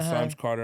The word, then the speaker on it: Simes Carter: Symes Carter on Spotify, YouTube. Symes rhymes with rhymes. He puts a Y in it. Or dimes or limes or whatever. So it looks just the way it says.